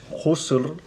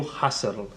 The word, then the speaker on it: Husserl: Ara ja no sé com es crec que en alemany és Husserl, però que la gent s'escriu H-U-S-T, la gent diu Husserl, com si fos anglès.